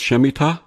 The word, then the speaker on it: Shemitah: the harbinger the mystery of the is it pronounced shemitah yeah Smita the book of mysteries and the paradigm what